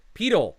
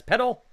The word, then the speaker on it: pedal: referring to the foot is properly pronounced to rhyme with needle snake heedle pedal is correct i would have read it as petal pedal pedal body part